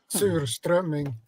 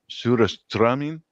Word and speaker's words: Surströmming: How do you pronounce it? Surströmming. Surströmming.